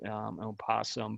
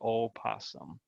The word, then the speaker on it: opossum: Again, typically people drop that letter O when they pronounce it opossum, but would be scientifically incorrect. It should be opossum.